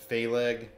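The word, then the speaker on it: Phaleg: actually pronounce these names philg haggith oil I assume that's how you pronounce it I mean pH makes an F sound doesn't it oh it's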